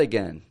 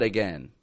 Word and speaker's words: again: D dad again and notice by the way I'm not saying again I hear people all over the world who speak all different languages will say instead of saying again they'll say again because that's how it's spelled of course we don't typically say it that way I'm sure there are some accents that do but the average North American accent just says again with again kind of sound call